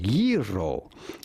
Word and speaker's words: gyro: The G is not pronounced like a G in Greek. Simply say ye and then row. You do want to roll your R rather strongly. Yro, yo, yo, yo.